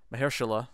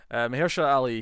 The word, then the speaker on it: Mahershala: Yeah, Mahershala. Did I say it right? You did. I think that is the first time you've got it right on the first attempt. Yes. Mahershala Ali.